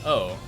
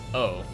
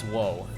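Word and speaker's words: を: well but it's pronounced oh like you you write it w-o but it's always pronounced oh right you don't you don't pronounce whoa whoa why whoa it's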